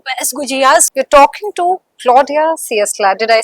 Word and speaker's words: Claudia Ciesla: You're talking to Claudia Ciesla.